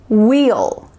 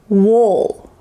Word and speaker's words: we'll: For example, you could say wheel, wheel, or you could use the lazy, relaxed style, wool, wool. There's really no action or movement happening in your mouth, just wool.